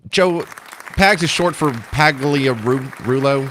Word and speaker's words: Pagliarulo: Joe Pags is short for Pagliarulo. How do you say it? Nailed it. Yeah, Pagliarulo, exactly.